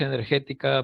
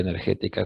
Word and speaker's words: Energetika: Clima en alemán se escribe con la letra K. Se lee igual, pero se escribe en vez de C, con letra K. Entonces, de allí el nombre de energética con la letra K.